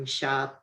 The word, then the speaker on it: Richa: like thank you we richa hopefully i'm pronouncing your name correctly for your question yes that's correct okay the questions are